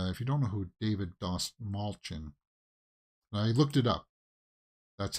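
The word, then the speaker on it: David Dastmalchian: so uh yeah uh in an interview he said just think of small chin and that's how you pronounce it he pointed to his chin he said think about that David smallchin yeah that's how you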